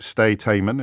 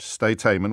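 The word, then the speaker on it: Sde Teiman: I can tell you that the place where this torture took place was, and I'll probably mispronounce it, Steiteimen.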